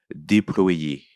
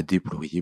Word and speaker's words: déployer: C'est un verbe aujourd'hui, le verbe déployer. Il n'est pas si facile parce qu'il ne se prononce pas tout à fait comme il s'écrit.